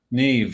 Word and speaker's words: Niamh: There's a few more, like Niamh. That's spelled Nimh. And it's Niamh? Niamh, yeah. There's also Cuiva.